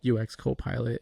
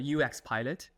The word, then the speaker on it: UX Pilot: are using tools like UX Copilot and Galileo. Yeah, sounds good. Just to minor correction, it's a UX Pilot.